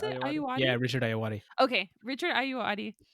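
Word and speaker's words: Ayoade: great and richard i nude i love richard ayude i think that's is that how you pronounce it yeah richard ayawati okay richard are you adi i love him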